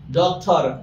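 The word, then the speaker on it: doctor: ওকে, ডক্টর, ডক্টর, ডক্টর, এই যে ডক্টর, that's আর র, এই রটাকে আমরা অন্তস্থ অ বা সাইলেন্ট করে দিব।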